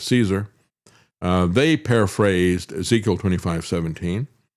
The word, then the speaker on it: CSAR: Well the um combat search and rescue team CSAR they pronounce that as Caesar.